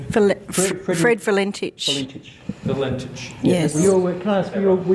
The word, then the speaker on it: Valentich: That's Valentin. Is that how you say his name? Fred Valentich. Valentich.